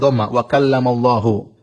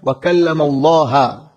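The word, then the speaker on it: وَكَلَّمَ ٱللَّهُ: berbicara dengan Nabi Musa itu cara bacanya Allah ya di wamallahu sehingga maknanya Allah yang subjek Musa yang objek Musa Alaihi Salam kata mereka harusnya dibaca wamallaha Allah objek Musa ngomong sama Allah dengan ngomong Sebenarnya ini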